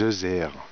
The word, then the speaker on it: zeuzère: voulais en parler en fait c'est la chemise 2h 2h c'était ça s'écrit Z u Z e accent grave re